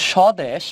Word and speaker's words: স্বদেশ: খেয়াল করো কিভাবে বলছি বফলার উচ্চারণ তো সদেশ এটা হয়ে যাবে স্বদেশ তার মানে সিম্পল জিনিস